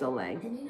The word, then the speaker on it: Soleil: might not know that her name is pronounced Oleg her real name Soleil